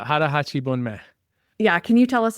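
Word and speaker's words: 腹八分目: There's a Japanese term for it, and I know that you pronounce it really well, and I don't. So Yeah, it's hara hachi bunme.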